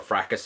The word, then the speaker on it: Fracas: he has a custom freitas already put there a fracas if you prefer that pronunciation and you may notice